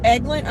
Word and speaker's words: Eglin: It's pronounced Eglin. Okay, sorry, Amanda. I don't know all the specific names. Amanda says Eglin has special ops C-130s.